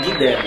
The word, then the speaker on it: Guidelli: Essa é a pronúncia? É, Guilherme. Guidelli.